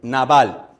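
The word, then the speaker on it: nabal: es la palabra naval, que se escribe n a b larga a l naval, que hace referencia o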